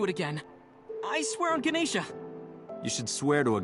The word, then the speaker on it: Ganesh: hey it's wearing the ganesha's mind also isn't it ganesha are you watching the stream you in cultural swine it's ganesh you don't pronounce the a's in hinduism a